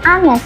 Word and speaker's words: honest: Padahal kalau ditulis depannya itu H ya kan horur dan hones gitu ya. Tapi ketika dia diucapkan dia bunyinya a, our dan honest makanya kita pakai.